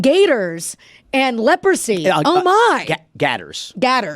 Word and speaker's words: Gators: Gatters. Don't say gators. Okay. You can't, it's Florida. Don't say gators. Gatters.